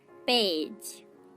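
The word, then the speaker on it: page: পেজ, পেজ, দেখুন এখানেও আমরা জি এর পর ই লেটারটাকে পাচ্ছি, কিন্তু এখানে তার উচ্চারণটা হচ্ছে বর্গীয় জ এর মতোই।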